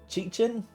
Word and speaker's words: Chichin: My name is pronounced Chichin. For those who want to like be able to say it.